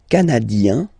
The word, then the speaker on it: canadien: Le Canada, canadien, yin, here, canadien, canadienne, yen.